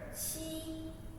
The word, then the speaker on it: 七: The common mistake we have made is we pronounce qi and chi as cheese. There's many words have the pronunciation of this one, qi, but I choose the Chinese word qi means 7.